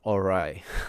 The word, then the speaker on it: awry: How do you even pronounce that word? AWRY, right? All right. Sounds like all right coming from me, but I'm trying my best.